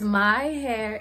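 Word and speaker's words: maihair.co: But it's myhair, M-A-I hair dot, like a period, co on Instagram.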